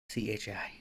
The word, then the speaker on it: chai: chai how do you pronounce how do you spell it c-h-a-i Chi now just for I think there's I think